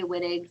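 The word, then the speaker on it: Wittig: it has a w is the pronunciation with a V sound yeah because it's German okay because I okay yeah I it doesn't really matter um some people say whittig some people say viig um I was always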